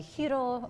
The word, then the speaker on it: gyro: The loukoumades, the baklava, the hiro sandwiches, or the gyro sandwiches. You the whole thing I was corrected one year, and I always try to make sure I pronounce it correctly.